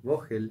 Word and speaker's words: Vogel: ¿Cómo lo pronuncio, Brian? ¿Qué tal, Mauro? Vogel.